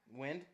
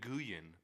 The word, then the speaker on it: Nguyen: name is- It's Dong Nguyen. That's Win. That's And- pronounced Win. It's Win. Dong Win. Dong Win. Yeah. Okay, I guess Downwind? NG together is a W. It is Dong Win.